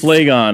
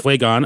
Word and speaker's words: Phlegon: Phlegon, I think somehow you usually hear it pronounced. Okay, Phlegon, a Greek from Caria,